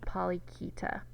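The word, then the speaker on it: Polychaeta: Now, Polyketa is Greek, and the CH makes a K sound, so you pronounce this Polyketa.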